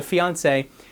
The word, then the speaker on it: fiancé: If it's a woman, it has two E's, but it's pronounced the same way. So fiancé, you say my fiancé, it's the person that I'm getting ready to get married to.